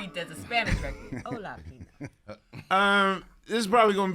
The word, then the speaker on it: Pino: Well, jalapeno could rhyme with Right. Pino.